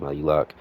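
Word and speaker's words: Maluach: That's how I pronounced his name before in the past, but I heard Malak. So, we're going to use that from that one.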